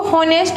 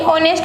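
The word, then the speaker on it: honest: Vowel में आती है, क्योंकि एच साइलेंट रहता है यहाँ पे, तो ये इसको हॉनेस्ट नहीं ऑनेस्ट बोला जाता है।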